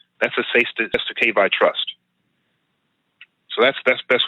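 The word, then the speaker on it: cestui que vie: SESTU-K, they call them SESTU-K or SESTU-K trusts, or SESTU-KV, spelled CESTUI. Next word QUE. Next word VIE.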